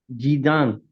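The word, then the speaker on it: 鸡蛋: Jidan.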